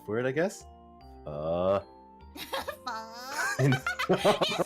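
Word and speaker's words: phở: So, I think in like southern and more central, it's pronounced like I think they use the typical pho, but pho. And I think, but since I'm from the north, I pronounce it as pho.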